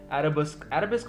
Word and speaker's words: arabesque: और अरबिस्क बोल सकते हो आप इसको, जो भी प्रोनाउंस करना चाहते हो। ये वर्ड जो है ARABESQUE, ठीक है, अरबिस्क बोलूंगा मैं इसको, तो क्या बोलूं।